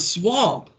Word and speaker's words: swamp: So this is a swamp. It says, swamp rhymes with chomp.